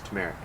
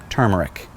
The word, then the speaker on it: turmeric: good place to start i think you're saying it wrong i'm not it's tumeric nope turmeric add just a bit